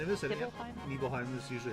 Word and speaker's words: Nibelheim: Nibelheim is usually how to pronounce Okay.